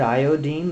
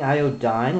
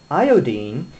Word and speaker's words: iodine: you ever wondered yet why I insist on pronouncing the word iodine the way that chemists do instead of saying IOD dine like everyone else here's a hunch for